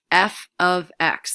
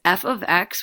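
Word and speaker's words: f(x): it's 5x plus 1 it's gonna output this f of X that's how that's pronounced it looks like F times X that's f of X which all it means is a function of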